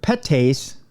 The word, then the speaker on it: PETase: One enzyme in particular, petase, I can pronounce that because it's PETase. Petase. That's like the rich part of that. Like you have pate, you have petase.